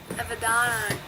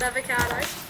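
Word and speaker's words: Avendano: Avedano. Yeah. Not avocado.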